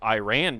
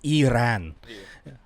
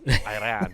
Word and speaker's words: Iran: Iran does, too. Ireland does not. Surprise, surprise. You said it wrong. It's Iran. Yes, Iran.